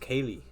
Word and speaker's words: Kaelei: but it's spelled Kaelei. If you just say it like that in English, you would just say like how you read it in English. It's pronounced Kaylee.